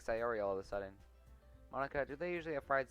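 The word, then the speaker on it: Monika: all people because train your name Monica yeah that's how you say my name at all also that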